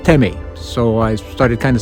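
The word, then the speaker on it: тэмээ: And I was told that in Mongolian, it's pronounced Teme.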